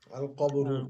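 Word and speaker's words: القبر: তো পারি না আল কবর কবর ও আল এ উচ্চারণ কি হবে আল কবরু কবরুন থেকে কবরু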